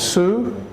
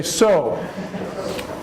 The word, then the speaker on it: sew: it looks which is su n CW w is a su sound but in English we don't pronounce it that way it's an exception it's an exception we say so they sound the